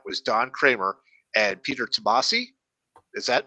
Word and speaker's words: Tomasi: And that was Don Kramer and Peter Tomasi. Is that right? If I pronounce that right?